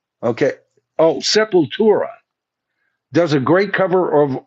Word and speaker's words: Sepultura: Septura. Okay. Oh, Sepultura does a great cover of Orgasmatron.